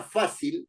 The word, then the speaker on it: fácil: Por ejemplo, la palabra fácil es una palabra grave terminada en una consonante que no es ni N ni S. Hay que se tilda en fa, que es la sílaba tónica.